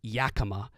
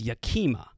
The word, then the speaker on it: Yakima: it was ridiculous that I mispronounced Yakima as Yakima they're so mad Yakima is literally the phonetic pronunciation of the word y-a-k-i-m-a when would you ever